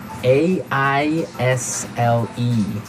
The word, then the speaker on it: aisle: word now I'll I'll a I SL e IO IO it's a tricky word it sounds like the contraction of I will yeah but it's spelled so strangely right we don't pronounce the S the S is silent